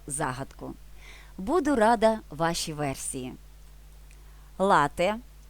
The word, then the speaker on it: лате: буду рада вашій версії лате в дослівний переклад кава з молоком вимовляємо з наголосом на перший склад і пишемо без подовження